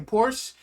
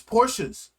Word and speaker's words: Porsche: be telling people to say Porsche it's Porsches say it right you got to say